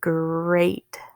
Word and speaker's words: great: a short e sweat next word great gert a long a great break for a good